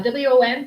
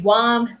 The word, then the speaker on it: WOM: spell letter by letter I would spell this one letter by letter w o m so word of mouth I think sometimes people do pronounce them as words so they could say the womb this month it sounds a little strange but some people do pronounce them as words I pronounce them letter by letter okay it's so true